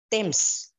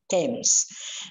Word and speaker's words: Thames: teacher she once said she wouldn't say themes times is not the correct pronunciation so take it from her Thames The Edge is silent she said so I